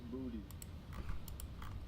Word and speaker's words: Boutte: And then there's an NFL player right now who I'm watching, whose name is Kayshawn Boutte, but it's pronounced Booty.